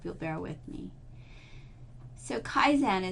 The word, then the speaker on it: kaizen: So Kaizen is pronounced kaizen, a Japanese word constructed from two idioraphs.